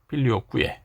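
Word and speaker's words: Filioque: 이 필리오케가 무슨 뜻이냐면 아들로부터라는 뜻인데, 여기서 말하는 아들은 이제 성자 예수님을 말하는 거예요. 그래서 이 필리오케라고 이렇게 한글로 썼는데, 사실 정확한 라틴어 발음은 필리오쿠에입니다. 필리오쿠에.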